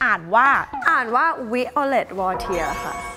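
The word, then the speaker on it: Violette Wautier: ชื่อ V จริง ๆ อ่าน ว่า อ่าน ว่า Violet War ค่ะ Violet War ถ้า เป็น สำเนียง ฝรั่งเศส แบบ เลย Violet Wood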